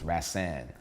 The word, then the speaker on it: Rashaan: actually named me and the way you properly pronounce my name is rasan ran right and he named me after an